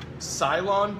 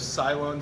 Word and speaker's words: Ceylon: So barrel-aged with Ceylon tea and orange peel. So my questions were like, so how do you say it? Salon. Ceylon. Yeah, Salon tea. It's okay. Ceylon. Yep. Like Salon sapphires.